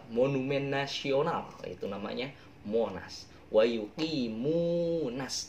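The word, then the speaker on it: ويقيمون: Wa yuqimunas, tapi jangan wa yuqimonas, jangan bacanya, tapi wa yuqimunas, nas sholah ya, jangan wa yuqimunas.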